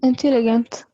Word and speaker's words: intelligent: غيري في Intelligent. غيري في الجي بس. Intelligent.